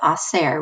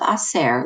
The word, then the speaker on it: hacer: Remember, you don't pronounce the H at the beginning of a Spanish word, so you just start with the I.